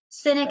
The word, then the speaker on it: Sinek: oh okay so look up simon sinek s-i-m-o-n cynic is spelled s-i-n-e-k he did a ted talk and